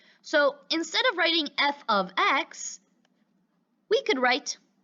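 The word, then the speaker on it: f(x): let me translate it the f parentheses x is actually f of x that's how we pronounce it and to go even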